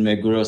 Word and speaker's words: Meguro: It's in Meguro City. Am I pronouncing that right? Meguro, yes.